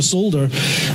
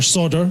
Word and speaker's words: solder: yeah, I'll teach you how to solder, or solder, and yeah, you guys say it wrong.